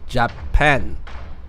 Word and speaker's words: 日本: The last one is "日本" (Nihon), the Land of the Rising Sun—Japan. They use Chinese characters, but in Japanese, it is pronounced as "Nihon."